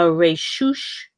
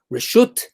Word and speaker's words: Reshut: 4 amos in a Reshush Harabim. Reshut, in our modern Israeli pronunciation, Reshut Harabim.